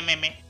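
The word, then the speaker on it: meme: Facebook खोला इसके मेमे, Insta खोला इसके मेमे, ट्विटर खोला इसके मेमे, रूम का दरवाजा खोला यही बकरी मेमे करके अंदर घुस गई। अबे मेमे नहीं, मीम होता है वो।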